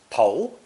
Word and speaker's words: 头: This character is pronounced second tone, 头, 头, and is the usual term for the head, either human or animal.